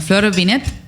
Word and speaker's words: Flor Vinet: Bueno, Flor Binet, exactamente. Se pronuncia así bien con la tilde, es psicóloga especialista en género y diversidad sexual.